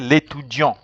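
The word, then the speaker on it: étudiant: was a male student you will just remove the e and you don't have to pronounce the T so you will say later John if I say let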